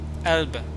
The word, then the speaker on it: Elbe: E-L-B-E. Elb. Oh, this, like this. Elb.